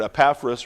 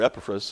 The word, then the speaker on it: Epaphras: But rather, and there are different ways you want to pronounce his name, you see it in verse 7, you hear it Epaphras or Epaphras, it doesn't matter to me.